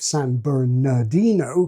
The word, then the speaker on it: San Bernardino: I remember the city of San Bernardino, California, where only the stressed R is pronounced, but I think it's